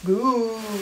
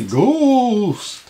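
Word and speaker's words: Ghooost!: Goose. It's actually Ghost.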